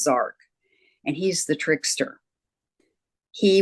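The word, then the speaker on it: Jark: His name is Zark. It's spelled J A R K, but it's pronounced Zark.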